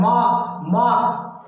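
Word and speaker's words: mark: मार्क को आर को silent करके बोला जाता है मार्क, जैसे फार्म को फॉर्म, तो मार्क ऑफ इंट्रोगेशन।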